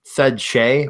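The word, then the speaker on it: Skjei: heard of Brady Shea it's his last name misspelled SK jei so it's out it's said Shea but doesn't look anything like it so you can't find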